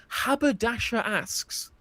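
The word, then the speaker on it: Haberdashers' Aske's: So haberdasher is spelled Haberdashers. Haberdashers. So like haberdasher, yeah, go on. Yeah. Ask is spelled Aske, and they're both like possessive.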